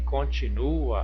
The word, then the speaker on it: continua: No verso de baixo, em continua, a sílaba tônica é o nu.